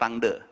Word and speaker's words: Rangda: By the way, anak-anak Bandung pada bilangnya Rangda. Terus saya the only one ngomong Rangde. Kebetulan ada satu tim Bali di sana. Terus saya bilang, finally there is someone that mention Rangde dengan right pronunciation katanya.